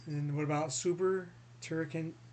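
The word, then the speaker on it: Super Turrican: And what about Super Turricon 2? Did I pronounce it right? Turricon?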